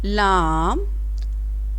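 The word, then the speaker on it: لام: Lam.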